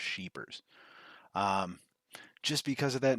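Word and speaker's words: Scheepers: be Ralph sheepers I'm I guarantee it's pronounced sheepers um just because of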